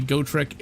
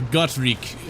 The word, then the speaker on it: Gotrek: But Gotrek is a dwarf, or Gotrik, I think is how you're supposed to pronounce his name.